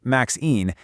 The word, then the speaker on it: MXene: The name, MXene, pronounced MXene, is a little nod to their parent material, which are called max phases, and also to graphene, using that same "ene" suffix.